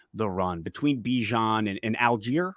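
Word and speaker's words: Allgeier: to shutting down the Run between Bijan and Alger right that's how you say his name yep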